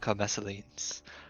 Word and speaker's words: Maselines: Uh I am Maselines uh Maseline the the last S is silent.